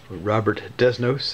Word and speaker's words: Robert Desnos: God drawing number 51 Rober desno Robert desnos an American English pronunciation the uh famous world